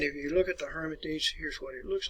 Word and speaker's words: Hermitage: your schedule to go by the Hermitage, or Hermitage as they would pronounce it in some countries anyway, home of Andrew Jackson.